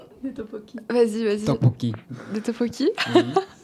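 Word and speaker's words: 떡볶이: Tteokbokki. Des tteokbokki. Vas-y. Tteokbokki. Des tteokbokki. Oui. Prononciation, c'est un peu galère, mais... Mets-le bien en face quand tu parles.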